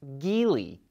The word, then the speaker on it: Geely: is owned by chinese automaker jili or which we recently found out is pronounced geely auto line daily is